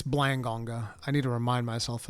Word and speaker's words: Blangonga: It's not Blonga, it's Blangonga.